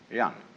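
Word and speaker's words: jen: of a human being is called Young spelled j-e-m for reasons best known to Chinese Scholars uh I don't know what they are but it's pronounced and it's a character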